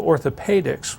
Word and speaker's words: orthopaedics: And that letter has a long E sound, pe. So orthopedics would be what that would be called.